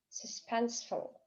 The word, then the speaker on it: suspenseful: Suspenseful, suspenseful, тревожный, напряженный. Здесь буква U в обоих случаях дает тоже звук шва. Sus, full, full. Suspenseful, suspenseful. Второй слог pen у нас под ударением.